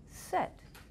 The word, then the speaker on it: ces: Are you allowed to pronounce that S? No. No. It rhymes with le. Uh-huh. Sounds like se.